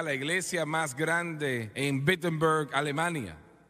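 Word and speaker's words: Wittenberg: iglesia más grande en bettenberg Alemania o no perdón empieza con una W pero se pronuncia como una B bettenberg Alemania y clava sus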